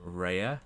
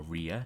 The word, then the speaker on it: Rhea: Our greater Rhea, or Rhea, depending on how you want to pronounce it, they will also be moving across because they are listed as.